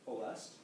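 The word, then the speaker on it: Ploiești: way up there the LZ 86 also bombed poest my Romanian neighbor says it's not pronounced pesty it's pronounced poest and so this was a place that was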